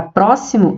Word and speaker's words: próximo: som de x mas na palavra próximo ele tem som de s e na palavra exame